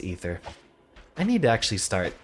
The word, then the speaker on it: Aether: rivals of aether project actually i think it's pronounced ether i need to actually